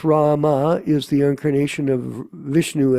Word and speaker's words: Rama: Ram, pronounced Rama, is the incarnation of Vishnu as the prince of responsibility.